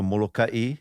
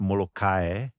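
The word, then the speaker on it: Molokaʻi: is yeah so people who argue for the Molokai versus they're not even getting that right if you're gonna omit that okay no over there then it's not Molokai which is the normal local jargon local pronunciation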